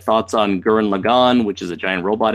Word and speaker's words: Gurren Lagann: It's like do you pronounce it symbiote or symbiote? You know, it's like who cares? Gurren Lagann. It's Gurren Lagann.